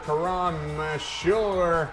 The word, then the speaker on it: Karam Mashur: Senior Karam Mashur. CD-ROM. CD-ROM. By the seashore.